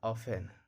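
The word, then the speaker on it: often: तो टी का उच्चारण नहीं करेंगे। इसको पढ़ा था ऑफेन वॉच लिसन लिस्टन नहीं बोलेंगे। वॉच नहीं बोलेंगे। ऑप्टेन नहीं बोलेंगे।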